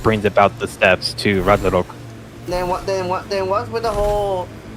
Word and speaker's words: Ragnarok: Yes, Ragnarok is actually how you pronounce it.